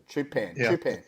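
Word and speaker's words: Hadi Choopan: Yeah, but there are a lot of Hardy Chopman or Chopman. How do you say it? Chupan.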